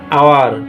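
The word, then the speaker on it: hour: আর দেখতে পাচ্ছি শব্দের প্রথম অক্ষর এইচ আগেও ছিল, এখনো আছে, কিন্তু উচ্চারণটা হচ্ছে অনার, অনেস্ট, আওয়ার। প্রত্যেকটা উচ্চারণ হচ্ছে ওর মতো।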